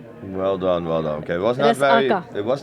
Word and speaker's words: resaca: So you stop in the middle. Resaka. Yes, you put the emphasis on the middle syllable.